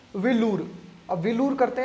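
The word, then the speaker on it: வேலூர்: या फिर ये जो वेल्लोर है, ये वेल्लोर गलत है, इसका उच्चारण तमिल लोग कैसे करते हैं? विलूर।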